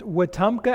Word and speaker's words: Wetumpka: I bring you greetings from, as was properly pronounced, Wetumpka, Alabama.